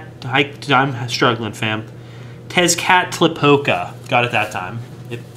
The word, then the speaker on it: Tezcatlipoca: me try to figure out how this is pronounced, fam. Dark Lord Tezcatlipoca. Hold on, take two. Dark Lord Tezcatlipoca. I'm struggling, fam. Tezcatlipoca.